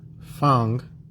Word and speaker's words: Pangwe: And so after that was complete, the Pangwe tribe, which we pronounce as Fang, so we get that fang tooth, right?